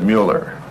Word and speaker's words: Mueller: The name is Mueller, my dear Jasmine. The German pronunciation of Miller.